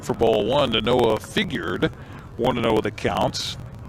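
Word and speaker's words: Figued: If you're wondering about that name, by the way, for the Bellingham Bells, it is Figured. Fi G u E D. Figured kind of figured.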